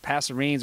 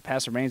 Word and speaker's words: passerine: are referred to as passer rinds sometimes it pronounces passerines or passive range depending on where you are uh apparently just the